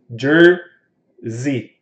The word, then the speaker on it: Jersey: E Jesse, as pessoas no Brasil geralmente pronunciam com som de S. Esse S tem som de Z. Nesse caso aqui, o S tem som de Z. Então, Jersey.